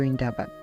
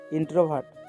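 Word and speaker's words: introvert: ওটাই আমার নাতনি একটু ইন্ডাভাত টাইপেন ও অপরিচিত তারের সাথে কথা বলতে পারে জমাজ ভাই বোন আবারো আলমগীর প্রামাণিকের ভুল উচ্চারণ শুদ্ধ করে দিয়ে বলে উঠল ইন্ট্রোভার্ট বড় লজ্জা পাওয়ার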